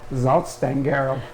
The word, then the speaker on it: Salzstangerl: These are salt sticks, but if you'd like to have the actual perfect German pronunciation, it's Salzstangerl.